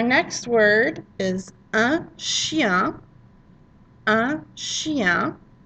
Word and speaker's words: chien: Un chien. And notice we really don't pronounce the N at the end at all because we're careful for one reason.